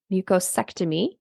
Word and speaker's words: mucosectomy: But you talked about chronic pouchitis, mucosectomy.